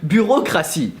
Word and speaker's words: bureaucratie: There's a reason why you guys have a word called bureaucracy, which in reality is just the poorly pronounced French word bureaucratie.